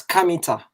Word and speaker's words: Kemet: the black people and there is some discussion about how kemet was properly pronounced so some people say it was not kemet and it was kamita because in most african languages uh there is open vowels at the end so they say it was probably something different